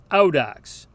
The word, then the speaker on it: audax: This is pronounced ow, like the English interjection we make when we hurt ourselves.